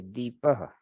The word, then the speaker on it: दीपः: ठीक है, चलो, तो ये द्वीप है, द्वीपः, और ये दीपः। तो दीप। दोनों बिल्कुल अलग अलग चीजें हैं, पर उच्चारण थोड़ा मिलता जुलता है, इसलिए बिल्कुल ध्यान से उच्चारण करना होता है, द्वीपः और दीप।